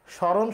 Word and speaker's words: স্মরণ: স্মরণ শব্দ, আমরা যদি স্মৃতি শব্দটি লিখি, আমরা যদি শ্মশান শব্দটি লিখি, আমরা যদি স্মরণ শব্দটি লিখি, তাহলে আমরা দেখতে পাই যে ময়ের কোনো উচ্চারণ হচ্ছে না।